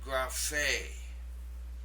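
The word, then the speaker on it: γραφή: The third word is pronounced graphe.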